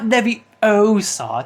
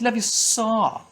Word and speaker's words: Leviosa: It's not Leviosa, it's Leviosa. Wingardium Leviosa.